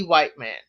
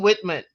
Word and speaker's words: Whitman: But they used to call it and pronounce it D. White Man. So the segment was, don't ask me, ask D. Whiteman. But it's Dean Whitman.